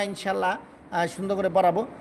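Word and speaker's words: سين: scene scene হবে না লম্বা হবে চর পাখির মত আওয়াজ হবে সুন্দর করে সা সি উচ্চারণ হবে সিন বল সিন সিন সিন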